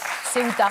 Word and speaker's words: Ceuta: La prononciation... Oui. Je pense qu'on dit... Ceuta. Ceuta, C-E-U-T-A, en arabe.